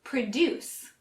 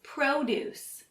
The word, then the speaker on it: produce: If you just look at it, most people would say produce. That's how we pronounce it when we use it as a verb. It means to make something. The one that we're focusing on today is produce, which emphasizes the first syllable pro and means fruits and vegetables.